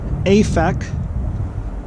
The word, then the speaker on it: Aphek: at a site that the old testament calls aphec it's spelled a-p-h-e-k it's mentioned a number of times in the old testament the word aphec means source of water